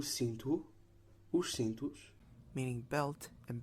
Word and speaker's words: cinto: These vowels become nasalized if M or N precedes the vowel, and M or N will not be pronounced as a consonant itself. For example, Gente, meaning people, cinto, meaning belt, and sargento, meaning sergeant.